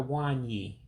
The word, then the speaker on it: nwanyị: So it's Au-Kam-Moe-Tah Wahn-Yea for female professor.